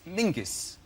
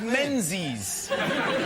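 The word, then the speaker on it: Menzies: His name is Mingus. Mingus. Yes. Goth. Yeah. Mus. Yeah. But it's pronounced it's it's spelled M E N Z I E S.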